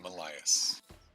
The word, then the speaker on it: Malias: Malias, I think is how you say that name. That is correct, Malias. I'm a tiefling artificer. That's the proper way to pronounce it.